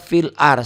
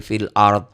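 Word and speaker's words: في الأرض: enggak boleh pil Ar banyak orang yang baca filar Salah Wal as salah Wal asr fil ARD fil ARD jadi fil ARD Amma ba'du jadi Amma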